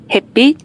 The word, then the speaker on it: 햇빛: Kita akan mendengarkan pelafalan dari orang Korea langsung. 햇빛, 햇빛, 햇빛, 햇빛, 햇빛, 햇빛, 햇빛, 햇빛, 햇빛, 햇빛, Ya, headbeat ini adalah artinya sinar matahari.